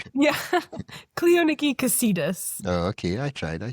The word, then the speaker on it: Cleoniki Kesidis: Cleoniki Cassidus.